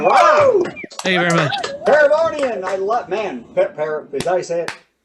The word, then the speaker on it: Paravonian: Paravonian, I love, man.